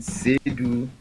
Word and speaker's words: Seidu: So the pronunciation is Asiedu, the host, and Seidu, the acting or caretaker host for Mr. William Asiedu.